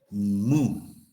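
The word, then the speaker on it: μ: En la anterior clase dijimos que la varianza poblacional va a ser X menos mu. Una U, ¿no? Se pronuncia mu.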